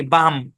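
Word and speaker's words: balm: silent আচ্ছা তারপরে দেখেন বি এল এম উচ্চারণ কি বাম এল সাইলেন্ট এখানে বাম বাম মানে কি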